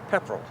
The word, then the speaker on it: Pepperell: How do you pronounce the name of it? Pepperell.